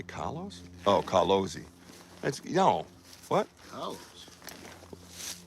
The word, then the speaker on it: Carlos: It's Carlosi. She's Italian. You gotta have some Z's, man. Even if she don't spell it like that.